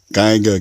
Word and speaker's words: Geiger: was saying this is saying Giga counter I was saying did you counter that I always say kids you can't for some reason and it was when I was a young kid I always pronounced it wrong and so I have a bad habit of popping up the wrong word so a Geiger counter is what you I'm supposed to be saying so it's like